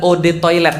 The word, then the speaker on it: eau de toilette: mau sombong banget eau de toilette artinya adalah Ode toilet bacanya e-awb atau odd saatnya air toilet ya toilet